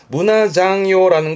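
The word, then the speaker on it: 胸算用: 그럼 발음은 상요가 되는데 앞에 가슴 흉자가 오는 바람에 발음이 문화장요입니다. 뒷글자의 상요에서 장요된 케이스인데요. 문화장요라는 건 속셈이라는 건 꿍꿍이.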